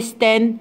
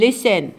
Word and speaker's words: listen: chins أوكي حبايبي نعيده لي سن التي طبعا سايلنت عنا لي سن ما بنقول listen نقول listen and ما بنقول answer